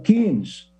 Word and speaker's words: Keynes: O keynesianismo corresponde à teoria econômica desenvolvida pelo economista inglês John Maynard Keynes, ou Keynes, segundo alguns pronunciam, esse pensamento, essa teoria foi veiculada em